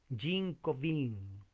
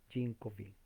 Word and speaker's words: Jean Calvin: gran reformador francés ginebrino, Jean Calvin. Usted dirá, ¿quién es? Yo no lo conozco a él. Bueno, estoy pronunciándolo en lo que puedo en francés. Juan Calvino, Jean Calvin, creo que así se pronuncia.